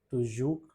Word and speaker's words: toujours: The fourth one, nous disons toujours la vérité. Toujours is the pronunciation of this word.